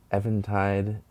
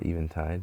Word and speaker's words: Eventide: It's the Eventide, or Eventide, depending on how you want to pronounce it, model H3000.